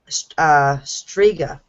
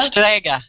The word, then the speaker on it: strega: All right. Striga. Striga? Strega. Strega. Strega. Strega. Yeah. All yeah, right. pronounce that with a strega. Yeah. Strega. Strega. Yes. That's Strega that's witches. Italian witches.